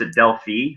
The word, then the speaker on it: Delphi: so people know it's D elph I village dot info that's how you spell it yep and Delphi but it is certainly proper to pronounce Adele fee which is the more European Way our resident Bulgarian likes